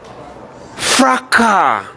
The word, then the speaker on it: fracas: Where there is disorder, we say there is fracas. The S is silent.